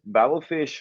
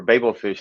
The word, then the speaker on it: Babel fish: Excel so so yes battle fish or Babel Fish depending on your pronunciation um you know it's